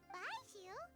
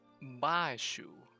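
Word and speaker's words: Baizhu: Baiju? What are you doing out here? Wait. It's Bashu. Bashu. The way she pronounces it.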